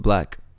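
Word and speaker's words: 6LACK: And that was with Black on it, 6 lakh. 6 lakh. Yeah, cool. 6 lakh pronounced black.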